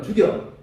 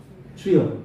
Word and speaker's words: 주여: 근데 발음 잘하셔야 됩니다. 예. 잘못 바르다면 죽여 그러면 안 됩니다. 주여 예수님을 불러야 됩니다.